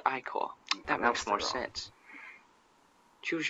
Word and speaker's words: ichor: I can fill it with magical ichor. That's pronounced Icor.